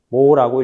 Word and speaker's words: 모: 단위는 s 지멘스라고 읽고 간혹 옴의 반대라서 기호를 거꾸로 쓰고 철자도 거꾸로 써서 모라고 읽기도 합니다.